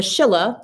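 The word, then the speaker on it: Silla: And the Shilla, that's how you would have pronounced it, like with an SH, the Shilla was the most powerful of the three kingdoms.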